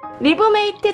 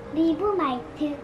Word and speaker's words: 리브메이트: 딱딱딱딱딱 해리의 잡 리브메이트 잘 먹을게.